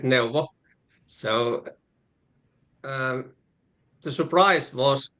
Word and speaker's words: Neuwo: Well, when we found new um or in Finland, we pronounce it Novo.